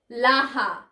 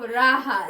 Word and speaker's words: raha: Laha. Instead of raha, they say laha.